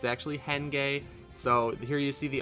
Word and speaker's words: Henge: So sorry about the mispronunciation. It's actually Henge.